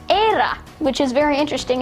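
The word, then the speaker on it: Éire: Um, in Ireland it's era, which is very interesting.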